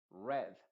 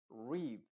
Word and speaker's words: read: Heard, read. Ese read está en pasado porque en presente read sería.